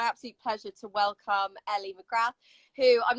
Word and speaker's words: McGrath: So my name is Ellie McGrath. I'm 23. Oh, Grant, sorry. Yeah, I know, it's well posh, but the TH is silent for anyone out there that cares.